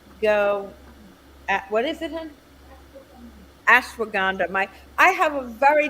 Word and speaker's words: ashwagandha: it it's Ash go what is it hun ashwagandha my I have a very dear friend who